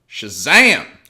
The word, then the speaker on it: Shazam: latest DC entry called Shazam. Shazam it. It's one of those words that you just want to say, like the end of it, emphatically. Like the last syllable, I think, goes up several octaves, yeah.